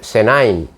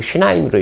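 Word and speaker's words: שניים: 근데 물이 두 개다라는 것을 뭐냐면 둘은 히브리어로 세나임, 슈나임입니다. 슈나임. 세바를 세나임으로 읽는 사람도 있고 세바를 슈나임으로 읽는 사람도 있어요. 세바를 또 세아라고 하는 사람도 있어요. 그러니까 독일 출신이냐 미국 출신이냐에 따라 다르다니까 발음.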